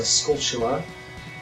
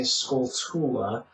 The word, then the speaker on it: Skulltula: I used to say Skulltula, but it then occurred to me years later that the word is obviously supposed to be poking fun at the word tarantula.